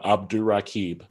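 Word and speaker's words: Abdurraqib: yeah how's it going y'all uh it is pronounced uh abdul rakib ah that's what i thought yeah i was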